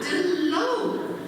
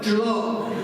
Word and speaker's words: de l'eau: And she read it for me, and I said, "This word D-L-O, how do you say that, and what does it mean?" She says, "L'eau, that means water." "Oh, de l'eau." She said, "No, de l'eau."